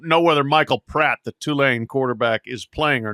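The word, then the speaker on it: Tulane: Virg Virginia Tech wins two lane covers how's our pronunciation on two lane doing better Ross yeah yeah perfect good good I think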